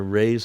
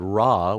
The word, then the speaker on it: Ra: so cool we are rays of light in ancient Egypt uh the Great God raah which was actually pronounced Ray the legend is that